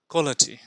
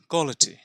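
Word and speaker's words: quality: জায়গায় ব্যবহার করা হয়েছে কে ডব্লিউ একটু ও এর মত সাউন্ড কিন্তু ও উচ্চারণ নয় যদি এটাকে সাউন্ড হিসেবে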